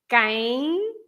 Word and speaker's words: quem: So in this case, the sound is quem. The last sound is ein. It's a nasal, right?